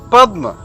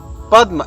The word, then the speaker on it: Padma: So there is an example like Padma. Padma, as you can hear me, Padma. So pa and then the is half. The is pronounced halfway.